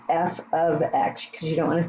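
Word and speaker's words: f(x): this notation it's pronounced f of x it doesn't mean f times x it means our function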